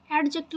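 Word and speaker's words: adjective: और इसको एडजेक्टिव नहीं बोलते हैं क्योंकि जे से पहले डी है तो डी साइलेंट होता है, तो ये हमारा एडजेक्टिव हो गया।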